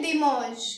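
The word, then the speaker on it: dimanche: होता है तो संडे को हम बोलते हैं दिम क्या बोलते हैं दिम इसको हम प्रोनाउंस इसकी देंगे D double E एम ए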